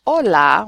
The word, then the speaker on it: hola: So the H is always silent.